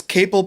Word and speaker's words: Capel: It's Capel pronounced like maple. Unless you pronounce maple like maple, and then it's Capel like maple, not maple.